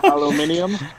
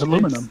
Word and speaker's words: aluminum: Aluminium? Aluminium? Well, I'm from the place where we properly pronounce it, which is aluminum. Oh my god.